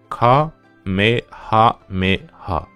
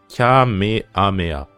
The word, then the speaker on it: Kamehameha: Il faut prononcer le H en japonais.